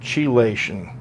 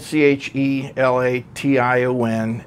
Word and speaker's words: chelation: I said chelation. So it's spelled C-H-E-L-A-T-I-O-N, and as it turns out, I think it's more correct to say it chelation.